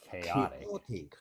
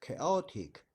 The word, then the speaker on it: chaotic: the CH the hear the CH has a k sound if something is chaotic